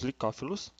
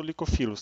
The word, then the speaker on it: licófilos: São os licófilos, que é a principal característica da divisão. Licófilos ou licofilos, tá? Tem mais de uma forma de escrita e pronúncia, porque é uma tradução literal do inglês.